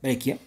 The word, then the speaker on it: Breccia: dibujante ilustrador Alberto Grecia se pronuncia brequia sí Alberto una enorme